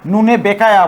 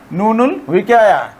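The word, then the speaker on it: نون الوقاية: নুনুল উইকায়া, এটা অনেকে নুনে বেকায়া বলে, অনেকে এটি নুনে বেকায়া বলে। নুনে বেকায়া আসলে উচ্চারণ হবে নুনুল উইকায়া।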